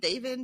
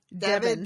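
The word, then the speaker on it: Devan: Is it David? Is that how you say it? Devin.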